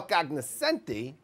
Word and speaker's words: cognoscenti: and then all the hot takers, the football cognoscenti, That's how you say it.